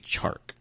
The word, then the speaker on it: Chark: We are looking at DJ Chark. It's so hard to say his name. Chark? Chark. Because I want to keep saying Shark.